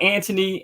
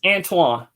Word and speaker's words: Antione: Like, even when I met you, with all due respect, you know, everybody mispronounces my name. I've been called Anthony, Antoine, sometime, but Antonio, Antone, Anthony, Anthony. Right. Pronounce it. It's Antoine. Antoine.